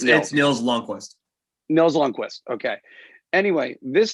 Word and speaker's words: Lundqvist: Again, by the way, how do I pronounce it? Is it Lundqvist or Long? It's Nils Lundqvist.